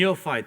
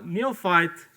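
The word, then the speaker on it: neophyte: form there's a Nei ne how do you pronounce this NE neoy thank you Jonathan uh neofight Benjamin neoy and the guru and the neight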